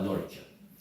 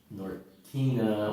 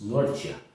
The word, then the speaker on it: Norcia: Pasta alla norcia. It's not nortina or norcia. It's norcia. Even though it's spelled Norcia, you can look it up on a map.